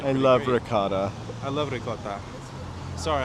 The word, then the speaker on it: ricotta: Sorry, I can never not say it like that after working however many years with it and around it. Ricarda, I guess I could say it like that, too. Just you could say. Anyways, it depends on if you uh um want an Italian American accent.